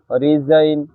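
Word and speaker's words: resign: শব্দের শেষে আই জিএন থাকলে আইন উচ্চারিত হয়। এক্ষেত্রে জি অনুচ্চারিত থাকে। যেমন ফরেন, রেইন, রিজাইন, সাইন, ডিজাইন ইত্যাদি।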